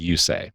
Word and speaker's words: Usaj: It's spelled U-S-A-J. And so I'm guessing you get questions a lot about how do you pronounce your last name? That's how you pronounce it. It is Usaj.